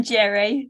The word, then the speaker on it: Geri: I'm Geri, it's hard G.